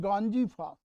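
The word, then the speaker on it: गंजीफा: गोंड कला ये भी गोंड आदिवासी कला है, और गाजी फास लिखा है, लेकिन सही उच्चारण इसका गांजी फास, गांजी फास।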